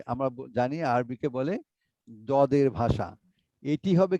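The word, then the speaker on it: ض: এটি হবে কি, জিহ্বার গোড়া উপরের ডান ডাইনে বা পাশে, বাম? ডানের বা বামের দাঁতের গোড়াতে লাগিয়ে উচ্চারণ করতে হবে। দদ, আগে জিহ্বার গোড়াটা ডানের দাঁতের সঙ্গে লাগিয়ে দিয়ে দদ, এইভাবে বললেই হয়ে যাবে ইনশাআল্লাহ।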